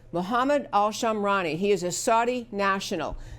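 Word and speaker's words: Mohammed al-Shamrani: shooter his name is Mohammed all Shum I'm sorry I'm gonna say it correctly mohammed al sham rani mohamed al sham rani he is a Saudi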